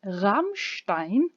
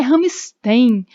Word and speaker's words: Rammstein: o nome da banda Rammstein. Não é Rammstein, não é Rammstein, é Rammstein.